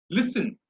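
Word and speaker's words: listen: For example லிசன். Okay, லிசன் அப்படின்றது லிஸ் தான் இங்க நான் வந்து ஸ்ட்ரெஸ் பண்றேன். லிசன் அப்படின்னு நான் சொல்றேன், லிசன் அப்படின்னு நான் சொல்றேன், லிசன்.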